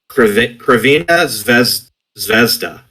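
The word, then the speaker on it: Crvena Zvezda: I'm trying to pronounce it. They're Kravina Zvezda. There you go. Is how you say it. Yeah, it's how you say it in Serbian, I guess.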